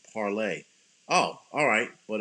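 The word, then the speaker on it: Parler: more people like it it's pronounced parlay oh alright but it's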